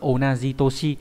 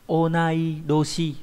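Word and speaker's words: 同い年: Thế nhưng mà người bằng tuổi, người giống tuổi, người ta lại không ghép là onaji toshi mà sẽ là onai doshi, được chưa?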